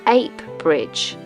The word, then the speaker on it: Heap Bridge: navvies were working on Heap Bridge, which they pronounced Ape Bridge.